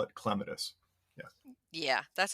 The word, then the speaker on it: clematis: up I called it catus uh but then since I learned that the correct Botanical pronunciation is clitus so the accent is on the first syllable but you know you